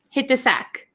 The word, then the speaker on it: hit the sack: sack hit the sack so if you notice there is a t here and followed by a th so uh when we pronounce it really quickly hit the hit the hit the sack we don't really say hit the sack hit the sack hit the sack so this t almost becomes silent and it links with